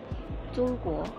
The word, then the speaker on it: 中国: 中国. Tunghua. Oh, yes. That's the name of your country. Yes. Tunghua. 中国, yeah, good pronounce.